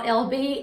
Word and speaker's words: LB: saying my name because every time i hear someone say my name they call me ellie b so hey y'all it's l b l b anyways tonight we're going